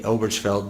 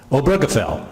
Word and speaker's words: Obergefell: How would you pronounce it in German? Obergefell. Okay. I was a French-speaking missionary, so I'm inclined to say Obergefell.